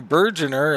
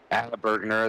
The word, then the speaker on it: Bergner: I call you Bergener. Is that right? Bergner, it's got a hard G on it, but I'm used to getting hacked up, so it's no big deal.